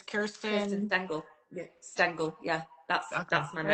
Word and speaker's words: Stengel: Yeah, it's a German origin name. So I think in Oh, German okay. it's more like Stengel, but it's Stengel. Yeah, but a lot of people pronounce it Stengel because in English they can't kind of thing.